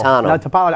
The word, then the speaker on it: Napolitano: Napolitano.